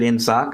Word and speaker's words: inSOC: so in sock and the reason I pronounce it in sock aside from the fact that they do is the the sock the soc and in sock stands for Security Operations Center and so in sock